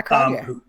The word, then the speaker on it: Cronje: the person, actually Andre Cronje, I think you pronounce it. Yeah, Cronje.